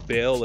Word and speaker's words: Bel: spelled is b-e-l which pronounced the Bell as in the Liberty Bell and in another way